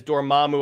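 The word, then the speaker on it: Dormammu: over and over again he says, "Dormamu, I've come to bargain." That's why I know how to pronounce that name. It's It's repeated over and over again.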